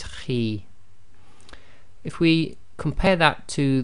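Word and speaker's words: خِ: got a note here, heavy letter but not completely full mouth, so the pronunciation of this is Khi, Khi. So it's not a complete smile, and at the same time it's not a full mouth, i.e. not a complete round mouth, so it's Khi.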